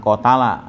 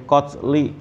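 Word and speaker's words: قَتْل: karena ada An Pak bacanya bukan qotala ya tapi qotli gitu ya ya kalau qotalahum itu kalau G adaan berarti dia kata kerja kalau ini bukan kata kerja tapi sudah untuk masdar ya jadi anqatlihim dari membunuh mereka gitu ya diharakatin itu Pak nanti jadi kalau bacanya qotalahum jadi salah heeh heeh Wal khitabu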